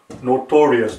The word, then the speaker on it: notorious: Notorious, notor-E-S. Right here is the this part right here, E with this line right here in B. See, that's how it's pronounced. This E here has the same sound as in B.